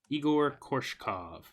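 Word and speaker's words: Egor Korshkov: How do you spell it even? What is his name? EGORKORSHKOV. Igor Korshkov.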